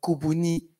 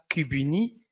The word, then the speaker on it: Kubuni: pouvoir faire des choses, pousser les gens à dire Kubuni et pas Kubuni. Ça, c'était aussi une vraie victoire pour notre exposition où on poussait les gens à prononcer le U bantou. On disait que non, nous, on a aussi le U, le nôtre, qui n'est pas le U français.